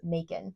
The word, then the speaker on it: Macon: are just heading to Mon. And that is spelled M A C O N, like bacon with an M.